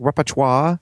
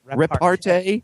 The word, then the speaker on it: repartee: Repertoire? No. Repartee?